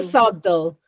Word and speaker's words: subtle: subtil so subdel so subtle kaya daw siya subtle kasi ' ba kaya daw yung subtle hindi pino-pronounce yung B kasi ganun siya ka-sattle ay tara